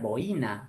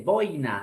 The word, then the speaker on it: boina: Dijimos que es incorrecto pronunciar boina. Se dice boina, no boina.